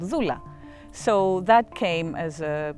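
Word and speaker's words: δούλα: Living Word and it's it it is uh pronounced Zula and it means slave and it's um considered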